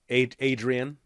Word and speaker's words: Adrienne: Adrienne. Yeah, okay. Oh, no, like Rocky. Yeah. Adrienne. Okay, that's what I thought, but it's longer.